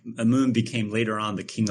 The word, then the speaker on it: Amun: the name come from or how do you pronounce it yeah a moon a moon is indeed the egyptian god of